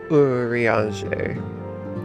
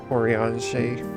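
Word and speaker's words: Urianger: I do pronounce it a little strange, because I think it's Uriange. Uriange. But I probably, if I say it fast, it probably just sounds like Oriange.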